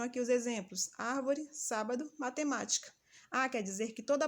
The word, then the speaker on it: matemática: ela também é proparoxítona mais um exemplo matemática e aí a gente vai conferir as posições última penúltima antepenúltima se a antepenúltima ser pronunciada com mais força ela também é proparoxítona outra dica aqui nessa